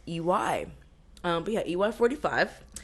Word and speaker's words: Iwai: eway 45 okay now eway is spelled interesting I W AI now I think if like if I wasn't given the pronunciation I would have called it like iway eway I would have called it iway yeah yeah so it's ey um but yeah ey